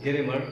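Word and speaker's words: grammar: सकते हैं कि उसको ग्रामर आती है, ठीक है। This word is pronounced as ग्रामर, नॉट ग्रामर। ग्रामर इसे नहीं पढ़ा जाता, इसे ग्रामर पढ़ा जाता है।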